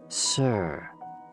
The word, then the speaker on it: si: associated with the heart s i pronounced like sir with a slow exhale which